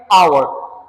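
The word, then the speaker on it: hour: एन आवर। यहां पे अगर देखेंगे एच कसोनेंट लेटर है लेकिन यहां पे साइलेंट है।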